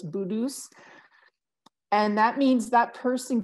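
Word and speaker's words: putu's: bedus um and and it's spelled like a p with peter like a p from peter p u t u apostrophe s but it it sounds like a hard b sound so it's budus and that means that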